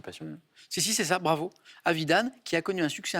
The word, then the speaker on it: Avidan: arthur israélienne ouais asaf avidan pense qu'on prononce avidan pas vide oui évident qui a